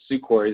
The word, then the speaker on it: Sukhoi: to ask why do the Sukhoi soar the Sukhoi is how you say them why do they